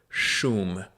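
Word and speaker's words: Шум: It's WY YM, but it's supposed to be you're supposed to look at it like Russian letters. It is the group Shum is how it's pronounced.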